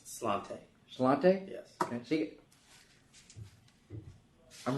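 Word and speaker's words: Sláinte: All right, next item is 444, and I should know my Gaelic pronunciation, but Sade Slate. No, Slante.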